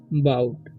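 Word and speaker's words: bought: एंड बाउट इसे पढ़ेंगे, ठीक है। यहाँ पर GH जो है साइलेंट हो जाता है, ठीक है। तो बाउट पढ़ेंगे, इसे पढ़ेंगे हम बाउट, ओके।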